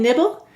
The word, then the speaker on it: nibble: The first syllable is nib. N-I-B. The second syllable is bull. B-ul. Silent final E. Go ahead and write nib-bull.